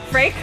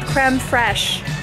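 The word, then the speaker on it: crème fraîche: he figured it out it's called creme fresh we were saying it all wrong what oh yeah fret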